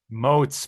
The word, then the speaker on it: Motz: Is it Motz? Moats. Moats rhymes with Motz. boats.